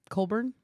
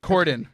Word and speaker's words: Corden: Colburn? James Colburn. But I'm being... Corden.